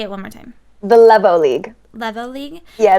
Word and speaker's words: Levo League: Now, she's I know of um the Is it Leo League? I always pronounce it. Levo. Sorry. Say it one more time. The Levo League.